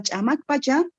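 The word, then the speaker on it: Chamak Pacha: Por ejemplo, Chamac Pacha, se dice en Aymara Chamac Pacha, etapa búsqueda de una identidad social sería, ¿no?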